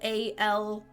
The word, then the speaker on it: Aloysius: I live um because there's a name spelled a-l-o-y-s-i-u-s is pronounced Aloysius and her name is spelled like that at the beginning a-l-o-y-s-i-a so my head read that but hers is actually pronounced more phonetically aloysia aloysia um is